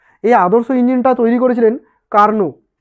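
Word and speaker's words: Carnot: আদর্শ ইঞ্জিনটা তৈরি করেছিলেন কার্নো কার্নোট একচুয়ালি ওর নামটা হচ্ছে সি এ আর এন ও টি ইংরেজিতে কার্নোর বাংলাতে উচ্চারণ হয় কার্নো টি উচ্চারণ হয় না ঠিক আছে তো কার্নোর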